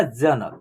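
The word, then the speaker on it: Janak: और के से क क का उच्चारण लास्ट में क्या होगा आधा हो जाएगा ठीक है ना जनक देख रहे है ना उच्चारण इसका लास्ट में आधा हो रहा है क का जनक ऐसे हो रहा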